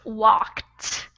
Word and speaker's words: walked: walked the wal k it's pronounced walked with almost like a tea at the end and yeah that can